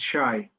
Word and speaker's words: Shay: And Krishna, just to let you know, I mean, the way I'm pronouncing my name is Shay.